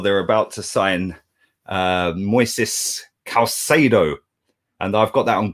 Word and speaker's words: Caicedo: They've signed, or they're about to sign, Moises Caicedo.